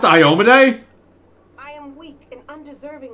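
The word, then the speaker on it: Iomedae: work but um oh light of the sword ioma day forgive me my sins wait is it pronounced iomede i am weak and undeserving i've been pronouncing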